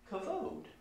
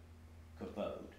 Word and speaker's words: kavod: Kavod. Right? So even in the, a lot of times Hebrew words have embedded in their the syllables, a hardness, k, v, d, right? Those are hard consonants.